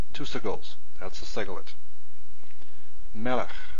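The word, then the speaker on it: מֶלֶךְ: Melech, melech means king. Stress on the first one, two segols, definitely a segolate.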